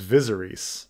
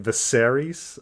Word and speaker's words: Viserys: know i said oh his name is visarise you know or advisories or something like that's just um to to suddenly put the emphasis on you know the the second syllable you know to make it viserys uh it was not